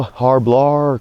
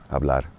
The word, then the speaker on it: hablar: Kind of shorten that up, right? hablar hablar You hear that with that R in the end? It's not like hablar. hablar Same thing. I'm just kind of tapping.